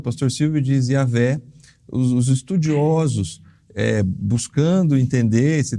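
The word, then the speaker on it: Yahweh: Mas os estudiosos, os melhores estudiosos, sempre vão apontar nessa direção, de que Yahvé ou mesmo Javé sejam as pronúncias assim mais apropriadas para esse nome.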